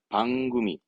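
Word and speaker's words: 番組: 원래 조직할 때 조자 발음은 소로 가야 돼. 하지만 발음은 방구미. 방구미. 번이니까 방에서 방구미.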